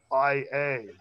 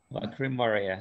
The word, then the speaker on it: Lacrymaria: Lacrymaria. It's phonetic, and there's no double consonants. Lacri Maria, something to do with tears, eh?